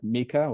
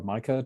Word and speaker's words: MiCA: I was struck by MiCA or MiCA, depending how you wish to pronounce it, so the market